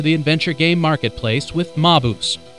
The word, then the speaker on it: Maabus: adventure game marketplace with MAO I think that's how you pronounce it maoo that's right like Fernando darling you look Mao because it's better to